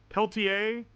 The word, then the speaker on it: Peltier: Peltier. Someone said the R is silent.